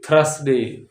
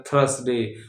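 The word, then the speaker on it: Thursday: ही थ्र स डे थ्रस डे ज्यादातर लोग बोलते हैं थस डे होना क्या चाहिए थर्सडे होना क्या चाहिए थर्सडे है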